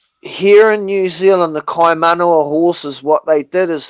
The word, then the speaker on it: Kaimanawa: breed them and preserve the bloodline of the Kaimanawa horses. It's spelled Right. Kaiman. Kaimanawa.